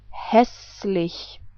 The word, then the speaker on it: hässlich: If you remember, this was the German umlaut Ä. So we pronounce this whole word like hässlich. I say it again. Hässlich. So here is the next word.